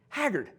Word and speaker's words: Haggard: Haggard I mean Haggard how hard is that it's two syllables it's not like it's mr.